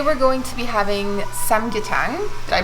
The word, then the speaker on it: 삼계탕: And today we're going to be having samgyetang. Did I pronounce that right?